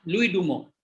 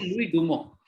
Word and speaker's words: Louis Dumont: Coming to the point, Dumo, Louis Dumo. लुइस डुमोंट है spelling, pronunciation है लुई डुमो।